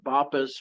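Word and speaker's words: BOPIS: by the way as b o p i s I've heard it pronounced b or bopus whatever you want to call it it means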